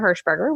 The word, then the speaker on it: Hershberger: and twitch slash trisha hershberger which is just my name and it's the last name is spelled just phonetically as it sounds it's all E's and and yeah it's